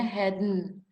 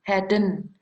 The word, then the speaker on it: hadn't: Ini kalau disingkatkan hadn't, bacanya hadn't. Sisanya di dalam tenggorokan sini. Hadn't, gitu ya. Kayak orang di hidung saja itu suaranya hadn't.